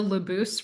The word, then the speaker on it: Labous: You know, I I finally got the Labous, right? Because you do say the S at the end, and she went and changed her name.